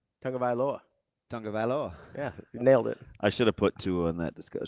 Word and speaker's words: Tagovailoa: Well, how does it pronounce? Tagovailoa. Tagovailoa.